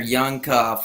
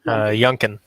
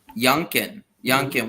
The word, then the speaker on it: Youngkin: This governor Youngcuff, or how do you say his name exactly? Youngkin. Youngkin.